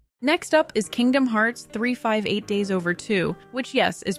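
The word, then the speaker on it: 358/2 Days: Next up is Kingdom Hearts 358 Days Over 2, which yes, is pronounced just like that.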